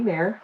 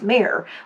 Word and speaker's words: Mare: couple of people say, is it Mar? I'm like, no, it's Mare, like la mer, the sea. La mer, ooh, la mer, the sea. Ooh, la mer, bon. Voilà. So, yeah, it's Mare.